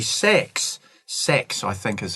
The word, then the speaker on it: Sachs: Sachs, I think is how we pronounce his name.